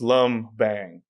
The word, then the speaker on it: Lumbang: And it's very phonetic. Just lum bang.